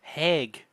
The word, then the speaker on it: Hague: Hague. Hog is Hog and Is that how it's ours.